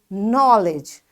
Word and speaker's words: knowledge: is silent got it because in all these words k is followed by n that's why we will not say this k this is silent and we will just pronounce from n you got it so this